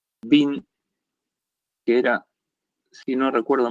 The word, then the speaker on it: Wien: Y se pronuncia Wien como el tenista que perdió con Schwarzman se llama Dominique Thiem.